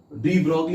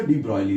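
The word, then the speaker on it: de Broglie: Now next डी ब्रॉयली, डी ब्रॉगली भी पढ़ते हैं, डी ब्रॉयली भी पढ़ते हैं, सही प्रोनाउंसिएशन इसका डी ब्रॉयली होता है, फ्रेंच साइंटिस्ट है लुइस डी ब्रॉयली।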